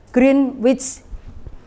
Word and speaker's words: Greenwich: Tulisannya Greenwich, bacanya Greenwich ya.